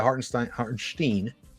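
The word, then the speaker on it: Hartenstein: on the perimeter and Isaiah Hart and Steen that's actually how you pronounce it uh he uh he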